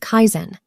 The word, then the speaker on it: Kaizen: This method is called Kaizen. It's 2 syllables, and it might be the most important thing you learn this year.